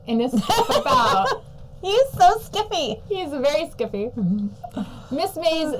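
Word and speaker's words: SCIF: sometimes write phonetically a sensitive compartmented information facility pronounced skiff yeah wow so I write it the way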